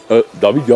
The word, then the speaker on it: Davidias: Davidia, c'est ça, hein? Ouais. Mais avec un S, mais le S on ne le prononce pas.